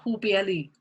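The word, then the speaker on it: 忽必烈: Chinese is Hu Bieli, okay?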